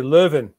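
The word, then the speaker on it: Leuven: or animal dissection next stop on jan's journey luvon i'm how do you pronounce that ron you would say living living what risky plan did andreas convince yon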